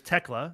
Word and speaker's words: Thekla: So her name is Tekla. The H is silent.